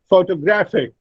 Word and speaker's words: photographic: Now, it is not photographic, it's photographic. Gra, the third syllable, receives primary stress, and the first syllable, pho, receives the secondary stress.